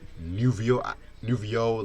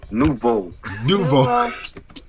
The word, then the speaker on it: Nouveau: Then we get to Club Nouveau, Life, Love, and Pain.